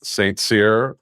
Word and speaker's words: St Cyr: this industry but we have Jay Brer from St seir is that I pronounce that correctly you got it yeah and